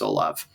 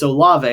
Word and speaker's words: Olave: to do that is chris olov or chris olave sorry i get so much crap for how i pronounce his name it's a lava i need to remember that but he's potentially one